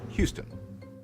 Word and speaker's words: Houston: on words for example all French words are stressed on the final syllables usually with a higher pitch and greater volume that's why French speakers will call the Texan City Houston instead of the English Houston meanwhile English words often